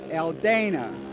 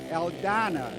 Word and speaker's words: Aldana: 70s and the 80s would call him Dave aldana but the proper Spanish pronunciation because there is no long a in Spanish sort of proper pronunciation would be Dave aldana so right now Dave